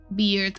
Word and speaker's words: beard: Is it like beer or like bear? Hold on. Google, explain to me how to pronounce Uh beard beard. Okay. Like beer.